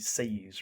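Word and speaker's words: seiyū: Um, the the one point I want to bring up too is like there are a lot more you seiyus, right?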